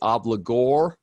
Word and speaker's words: obligor: the principal debtor is also called the obligor that's how that's pronounced the creditor or the